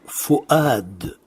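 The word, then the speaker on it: فؤاد: On prononce en réalité le hamza, on ne prononce pas le waw, c'est juste un support. Donc le mot qui apparaît est fu'ad.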